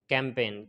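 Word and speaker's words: campaign: गया इसी तरीके से कैंपेन कैंपेन में भी एन से पहले जी आया है तो वह भी साइलेंट हो गया है आगे चलते हैं आगे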